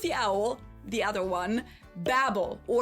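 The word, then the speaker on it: Babbel: Not the one with the owl, the other one, Babel or Babel as it's pronounced in the original German because this company was also founded in Berlin, Germany in 2007.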